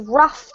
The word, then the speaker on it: rough: This one is roughed up. Roughed up. Rough pad. Good. So this word by itself is like an F sound, a th sound at the end, and it's pronounced rough.